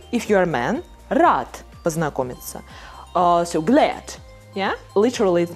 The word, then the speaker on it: познакомиться: If O is in a stressed position, it will be pronounced like A.